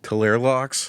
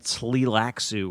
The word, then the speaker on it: Tleilaxu: It's spelled TLEILAXU. Nope. Nope. Can't say that. Nope. Yeah, me neither. Talerlox. It's like Talerlox. it's like Tlilaxu or something.